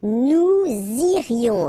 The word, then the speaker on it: nous irions: Okay, then nous irions. Okay, so let's make this little liaison between the two. Nous irions, final S not pronounced.